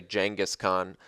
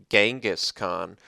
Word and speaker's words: Genghis Khan: And yes, I did say Genghis Khan. My whole life I always pronounced it Genghis Khan, but I listened to Dan Carlin's Hardcore History.